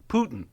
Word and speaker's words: Putin: In case you want to know what awake listeners, Putin is pronounced P O in caps- tihn, but they had to have that pronunciation guide for Trump.